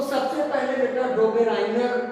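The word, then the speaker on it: Döbereiner: तो सबसे पहले बेटा डोबेराइनर का त्रिक नियम आता है इसमें, डोबेराइनर का त्रिक नियम। कुछ बुकों ने इसको डोबरीनर बोला है बेटा, डोबरीनर, राई को ई बोल दिया, हिंदी उच्चारण इंग्लिश से।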